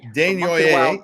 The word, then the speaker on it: Desnoyers: Desnoyers. Yes. Caleb Desnoyers. I would have called him Desnoyers. I wouldn't have said the S.